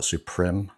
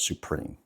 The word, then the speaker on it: Suprim: Most people call it Suprim because of the way it's spelled, but I think the intention is to call it Supreme.